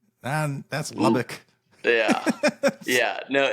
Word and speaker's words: Lubbock: things in Texas, which I would say I'm pronouncing them correctly. Like Pecos. That's Yeah. Pecos. Oh yeah. What is it? Lubick? That's Lubbock.